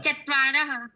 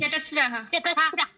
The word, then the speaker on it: चतस्रः: चत्वारः। नहीं, चतस्रः। एक। बाकी लोग साइलेंट।